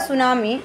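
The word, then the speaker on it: tsunami: लो how does the सुनामी इसको टी यहां पे साइलेंट आएगा तो सुनामी रीड करेंगे ठीक है अफ वेल्स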